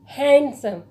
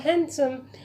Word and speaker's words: handsome: आप इस वर्ड में अगर आपको नहीं पता होगा कि लेटर डी जो है वो साइलेंट है, तो आप इसको कैसे प्रोनाउंस करेंगे? हैंडसम। बट इसका जो करेक्ट प्रोनाउंसिएशन है वो है हैंडसम।